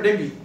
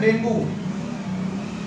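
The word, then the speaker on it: dengue: गिर जाती है, खासकर डेंगू। डेंगू लोग बोलते हैं, लेकिन इसका सब जो सही प्रोनाउंसिएशन है उसको लोग बोलते हैं डेंगू, जबकि इसका सही प्रोनाउंसिएशन है डेंगी।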